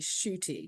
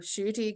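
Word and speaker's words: Ncuti: gatwa um I I his name is spelled differently but it's actually shoy shoy God and he's Scottish in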